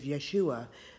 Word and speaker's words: Yeshua: how Joshua dies and Joshua is another name to pronounce Joshua is Yeshua so basically Moses died